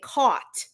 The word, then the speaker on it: caught: So the pronunciation sounds like it's an O because we say caught, right? But it's actually spelled with an A.